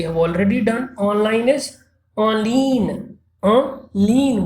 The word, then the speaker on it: en ligne: Online is en ligne. En ligne, we don't pronounce G here.